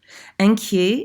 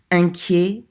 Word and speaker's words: inquiet: There's another one, inquiet, at the end. Inquiet. Remember, that means worried. Inquiet is the masculine form.